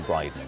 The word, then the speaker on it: Brydon: Only if you're wearing a Brydon will you have real peace of mind. Rhymes with Dryden.